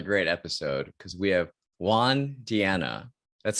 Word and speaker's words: Juan Diana: this is another great episode because we have juan diana that's how i pronounce it right did i get right yeah